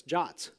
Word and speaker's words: JWT: way JavaScript web tokens jots JWT pronounced john i know i didn't they never asked me these things either I would have probably come up with something really more accurate but terrible to pronounce like twit or something right but jot is just what it's called so so this gets